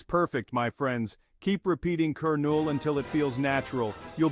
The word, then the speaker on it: colonel: fool you it's pronounced keru that's right the L is silent say it with me kerol see it's not as